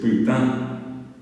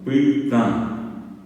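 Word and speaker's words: pytã: rojo o colorado es putain, es P, Y, T, A nasal. Putain, putain, putain.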